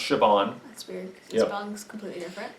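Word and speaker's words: Siobhan: y it's it's pronounced sioban that's weird song's completely different it's a yeah it's a Irish thing well first of all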